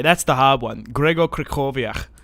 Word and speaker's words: Krychowiak: I think you say Gregor Krychowiak. I think that's how you say his name. But it's like not spelt that way.